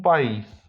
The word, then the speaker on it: país: Jeśli natomiast nad I jest akcent, czyli takie coś jak na polski przecinek wyglądające, to wtedy wydłuża się to jak IJ. Un día, un país.